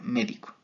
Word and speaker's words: médico: Y la última sería médico. Esta palabra tiene una tilde igualmente en la antepenúltima sílaba, lo cual lo haría una palabra esdrújula, y esta palabra es